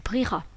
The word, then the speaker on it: prieras: avec tu c'est-à-dire as tu prieras avec le muet à ne surtout pas oublier l'écrit enfin dernier verbe du